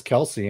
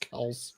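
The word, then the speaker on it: Kelce: just like everybody says Kelsey and it's actually pronounced Kel it's not kelc it's just Kel it's Mr Swift wow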